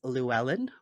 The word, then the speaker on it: Llewellyn: When you say the name of that publisher, there's like an H sound. Is the double L, does that have an H sound? Yes. So the way that most Americans say the name of my publishing house is Llewellyn Yes. Worldwide. And that's a Welsh name. So Llewellyn Worldwide actually has its origin in Wales.